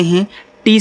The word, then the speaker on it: hate: तो आपको याद रखना, ये रूल है कि जब ए के बाद एक लेटर छोड़ करके ई आए तो हम ए का उच्चारण एक ही मात्रा के रूप में करेंगे।